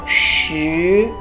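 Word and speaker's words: 竖: of the whole shape next one is shoe is a vertical stretch like in this number 10 we pronounce as shu this blue one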